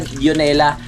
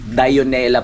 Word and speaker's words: Dionela: Hanapin niyo lang sana hindi pala dionela dionela pala mga kapanalig ang tunay na pagbigkas doon sa pangalan dionela magaling na songwriter yun